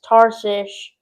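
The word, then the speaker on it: Tarshish: That word gets me every time. I cannot say it right. is tarsish, which is spelled t a r s i s h, just if you were wondering. It's a tricky word, so please forgive me.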